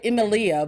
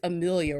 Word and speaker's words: Emilia: I always call her Emilia, but James told me one day, it's Amelia, right? Emilia Clarke. Well, then don't spell it like Emilia. Spell it like Amelia.